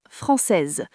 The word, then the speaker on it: française: Français devient française. On prononce le S final.